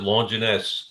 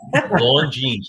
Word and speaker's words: Longines: Am I saying is it pronounced Longinus? I don't even know. I'm not sure. Yeah. Longines. I think it's Longines. Longines. Yeah. But I remember that thing, man. As a kid, I always pronounce it Longinus. It's Longines. How about that?